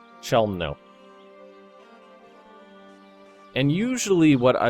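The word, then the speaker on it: Chełmno: So let's detach siege there, and we're going to go to Chemlo. I can never pronounce this word correctly. Chelmno.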